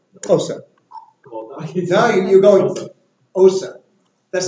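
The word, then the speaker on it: Xhosa: It's Osa. Can you do it? Osa. well, Now you're going Osa.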